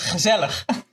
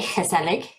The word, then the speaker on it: gezellig: The hard word to learn in Dutch is gezellig, which nobody can pronounce if they're not Dutch, I think. I can say gezellig. Oh, very good. That's quite It took me a while. That G is a challenge.